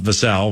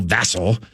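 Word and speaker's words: Vassell: then we get like Devon vassel not vasel vassel and uh is it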